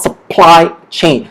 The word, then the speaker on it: supply chain: okay, that is in this supply, the second p, okay, is stressed. Okay, that means it's stronger there. So it's called supply chain.